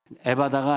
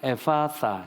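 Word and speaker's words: ἐφφαθά: 자, 그러면 엡실론 피타 알파 그래서 발음을 에파사 이래. 에파사. 에바다가 아니라 에파사. 시작. 에파사. 싸할 때는 혓바닥을 깨먹고 싸. 응.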